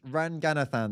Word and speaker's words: Ranganathan: Romesh Ranganathan.